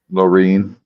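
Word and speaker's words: Lorne: PR goes through there Lauren Myers but the thing is La how do you say your name is it Lauren or Loren Loren Lauren l o r n e Loren Loren see Loren to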